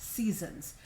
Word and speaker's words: SZNZ: And it's sort of spelled SZNZ, but it's pronounced Seasons.